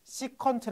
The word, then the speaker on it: 시컨트: 코시 컨트라 읽어요 그럼 코사인의 역수를 sec고 쓰고 시컨트 아고 읽어요 시컨트 그럼 탄젠트의 역수를 C고